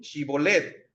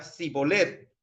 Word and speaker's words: Shibolet: Si él respondía, no, entonces le decían, ahora pues di Shibolet. Y él decía, Sibolet, porque no podía pronunciarlo correctamente. Entonces le echaban mano y le degollaban junto a los vados del Jordán.